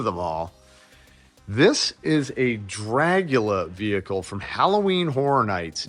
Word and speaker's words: Dragula: Dragula or Dracula? Dragula. Yeah, see? I thought you were pronouncing.